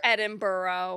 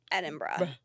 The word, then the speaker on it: Edinburgh: and I'm nervous edra it's never Edinburough no we know that and we know that and nobody say it like that and don't say Edinburg oh don't say that we know it's not that we know and we confidently say Edinburgh and we it feels